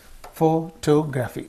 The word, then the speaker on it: photography: Okay, words ending in graphy take accent on the syllable immediately before the suffix. So here, photography, graphy is there. Photography, graphy, biography, geography. So graphy is the suffix. So before that only the syllable before that will receive. The syllable before that suffix will receive the stress.